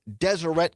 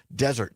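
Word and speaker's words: Deseret: Kirk, the Turning Points founder, uh the correct pronunciation is Desireette News. I think I was pronouncing it Desert News.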